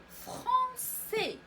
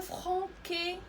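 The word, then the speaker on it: français: مثلا فرونسي، فرونسي. نتوما اللي باغيين تعلموا اللغه الفرنسيه ففرونسي كتكتب بهذه الطريقه، ضروري تضيفوا لا سي دي حيت كتكون متبوعه با وكنسمعوا س. ما تنقولوش لو فرونكي انما لو فرونسي.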